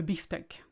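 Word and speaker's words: bifteck: beef tank funnily enough we should say beef steak or just steak but we say le biftek and i do apologize for this because it's basically the word beefsteak totally butchered but there you go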